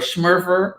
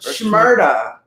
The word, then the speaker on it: Shmurda: Shmurda or Shmurfer. Shmurda. SCH and Murda, like Ja Rule.